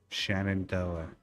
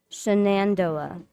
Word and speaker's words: Shenandoah: Shenandoah. See, that's the Philly in me coming out. I don't pronounce the Oh. other N. Shenandoah.